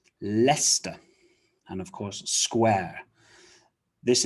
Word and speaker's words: Leicester: place names you will remember that c-e-s-t-e-r is pronounced st like gloucester bista so it's not lay sesta or lei kester lester and of course square this is a big